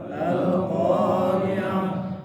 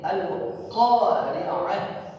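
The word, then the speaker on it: القارعة: Kalau dia berhadapan dengan waqaf atau dibaca waqaf, maka bacanya adalah huruf apa? Huruf ha. Ya, kalau kita bilang ha besar.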